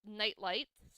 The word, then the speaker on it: Knight Lights: game which is called NightLight spelled with the silent k like the medieval warriors uh so the players